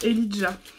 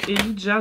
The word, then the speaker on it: Elijah: Donc effectivement, elle le prononçait Elijah, donc c'est E-L-I-J-A-H, comme Elijah Wood, dans Le Seigneur des Anneaux par exemple.